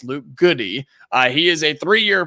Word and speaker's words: Goode: reached out immediately and he's interrested immediately Luke goody from Illinois and yes it is pronounced goody g o o d e not good it's Luke goody uh he is a three-year player at Illinois